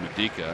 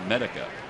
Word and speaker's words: Medica: I had said Medica, and I apologize. It's Medica.